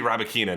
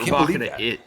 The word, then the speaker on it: Rybakina: It used to be Rybakina, now it's Rybakina.